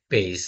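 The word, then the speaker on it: vase: তো ফুলদানির ইংরেজি আমরা জানি কি বেস বেস বানানটা কি ভি এস ই পেইস তাই না হ্যাঁ বেইস বেইস অর্থ হচ্ছে ফুলদানি তাহলে এটা কিভাবে উচ্চারিত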